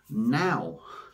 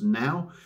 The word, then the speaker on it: Naw: sort of releases and it's a can of now now you look at that and it says n a w so you kind of think no but it's actually pronounced now this is a West Coast IPA coming in